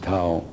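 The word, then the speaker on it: Thao: T-H-I-O. Tao. That's her name. You can pronounce whatever you want, but I pronounce it Tao.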